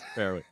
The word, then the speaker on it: Farrelly: Yes, Farrelly.